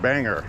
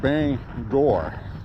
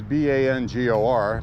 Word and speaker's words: Bangor: through in an RV and she kept saying Bangor, Bangor, Maine, Bangor, Maine. So of course I had to correct her. I said it was pronounced Bangor, which it is. I know it's B-A-N-G-O-R, but it's pronounced Bangor.